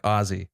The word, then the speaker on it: Aussie: It's not an S sound. It's a Z sound like Aussie. Aussie, yeah. Oh, like Ozzy Osbourne is Ozzy.